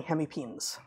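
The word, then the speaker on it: hemipenes: which is again lizards and six is having hemipins which is two reversible pins which is really how it's pronounced I would have said penises but um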